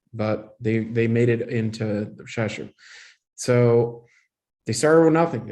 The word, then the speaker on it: Rzeszów: And they've resettled in Rzeszów, is the way to pronounce it. Rzeszów. In Ukrainian, it would be more like Sasu, but that's the Polish way to say it.